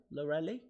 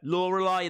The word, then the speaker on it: Lorelei: There we go. Lorelei. That's how you pronounce the name.